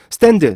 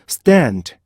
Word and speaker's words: stand: 알잖아 그러면 어떻게 돼요 스탠드 스탠드 스탠드 이렇게 되는 거죠 그죠 그래서 우리나 사람들은요 스탠드 아니면 스탠드 이렇게 인단 말이야요 그죠 이게 아니고 stand stand stand 이게 스